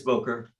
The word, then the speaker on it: Boker: It's Booker? Boker. It is Boker.